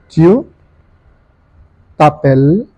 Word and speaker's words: tu t'appelles: Tu t'appelles, the S is silent, comment?